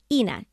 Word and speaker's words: Ina: It's pronounced Ina, E-E-N-A, like Regina.